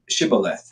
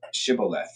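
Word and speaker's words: Shibboleth: If he said, "No, then they would say to him, then say Shibth." And he would say Shibth. Oh, he would say Cibolith for he could not pronounce it right.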